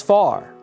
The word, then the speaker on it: fire: long distance and fire, as folks back home pronounce fire as far.